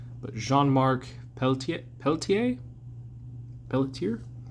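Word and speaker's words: Pelletier: It's in French so I'm going to butcher the pronunciation but Jeanmark Peltier Peltier Pelier. I know they usually don't pronounce the Rs. So, I think Pellete is probably like somewhat close.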